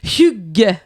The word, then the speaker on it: hygge: Mais c'est parce que ce qu'il faut savoir, c'est que ça s'écrit H-Y-G-G-E, mais ça se prononce Hugg.